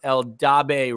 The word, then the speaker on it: Eldabe: Attorneys upon joining his current personal injury firm, Eldabe Ritter.